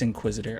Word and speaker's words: Inquisitr: Is that how you say it? Inquisitr. I'm stupid, dude. It's Inquisitr. All right, so came across